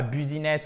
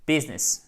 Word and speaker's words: business: vous le savez maintenant business donc c'est un peu plus non pas businness ou business non business c'est bon je pense que déjà